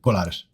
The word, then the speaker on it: Colares: I can't pronounce that. So you did good. Colares.